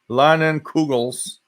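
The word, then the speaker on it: Leinenkugel's: Mouthful Man 336, just crack open a Lennon Krugel, pronounced Lennon Kugel's summer shandy brewed with flavor of real lemon and honey.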